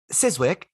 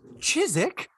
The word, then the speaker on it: Chiswick: I know this one is it siswick oh no it's Chiswick isn't it we're so confident it's both times and both times you were wrong no chizik there's a w in the middle yeah you can't have